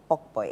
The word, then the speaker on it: pokpoi: of the Gamancha King Takiteko Shri II sprinkling pokpoi. Is that how they pronounce it?